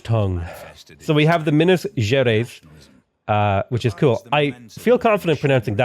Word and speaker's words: Minas Gerais: Oh, it's Minas Gerais. Minas Gerais. And I suppose people from Guarulhos would say Minas Gerais. So it's almost like a J. So it's like Minas Gerais.